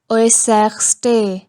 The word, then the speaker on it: äußerste: A umlaut U will also give sound as Oi. Das äußerste. Das äußerste.